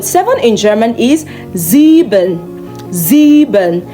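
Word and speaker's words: sieben: Zebon.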